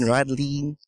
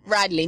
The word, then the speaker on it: Rädlein: Radine. Why is my last name like that? Radine. Why me just say different from the first time? Say you butchered the name. Radley. Just say just like that.